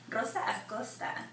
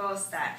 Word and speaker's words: Rosa Acosta: sexy vixen over here, Rosa Acosta. Am I saying it right? Yeah. En español así se dice, ¿verdad? Sí, Rosa perfecto. Acosta. That's right.